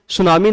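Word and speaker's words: tsunami: नाम ई ई मैं इसमें यहां पर पति साइलेंट है तो इसको सुनामी नाम से बोला जाता है तो यहां पर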